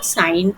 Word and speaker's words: sine: This that is sine. Sine we pronounce sin.